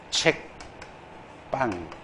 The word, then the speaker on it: 책방: 소리가 나게 돼 있어요 앞길 표준 발음 책 빵 된소리 발음이 돼요 그래서 된소리 발음된다고 해서